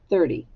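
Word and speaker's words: thirty: thir second syllable T 30 now we often make the T sound in there sound like a d but it's really a t so it's it's actually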